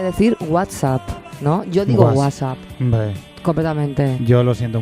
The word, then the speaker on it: WhatsApp: Yo digo WhatsApp. Hombre. Completamente. Yo lo siento mucho por este amigo italiano o que vive en Italia. No tengo tiempo para pronunciar esa T de en medio.